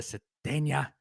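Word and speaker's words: Sategna: The top 4 receivers for Arkansas: Andrew Armstrong, Isaiah Cetena, I think is how it's said, Isaac Tesla.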